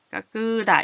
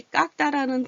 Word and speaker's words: 깎다: 깎으다 이렇게 안 하고 깎다.